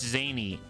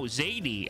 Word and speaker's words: Zadie: It's Zany. No, Zadie. I did say it right the first time.